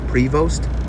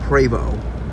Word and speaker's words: Prevost: or previous bus and yes it is spelled as prevost but in the fanatic sense it's pravo as in how what the french would say or at least canadian french would say frevo and america's of course